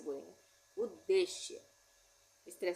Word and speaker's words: उद्देश्य: के ऊ परर सूर्या उद्देश्य य पर हम क्या बोल रहे हैं उद्देश्य उद्देश्य नहीं बोल रहे इसलिए आधा द का उच्चारण आ रहा है पहले उसके बाद फिर